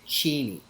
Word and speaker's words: Cheney: ] fake ass arguments Dick Cheney's name is Dick cheny and here's the thing years ago they asked him about that they were like is your name actually cheny you pronounce it Cheney he goes yes but everybody calls it Cheney and I work in National politics and so I'm now Dick Cheney but actual the pronunciation at home and the pronunciation in my family is chy and here's the thing